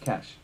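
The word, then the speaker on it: cache: pronounced this as data as said it's pronounced cash I got remed on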